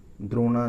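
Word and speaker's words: Drona: एक बुक है क्रिकेट ड्रोना, द्रोणा इसका प्रोनाउंसिएशन होगा, आनंद बसु जी ने लिखी है क्रिकेट ड्रोना।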